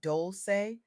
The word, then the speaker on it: Dolce: Leanne Dolce, pronounced dol-say, sat down to discuss how redefining softness can help black professionals and entrepreneurs build more sustainable success.